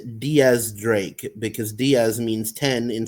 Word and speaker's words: X Drake: X Drake is pronounced Diaz Drake because Diaz means 10 in Spanish and X is the Roman numeral for 10.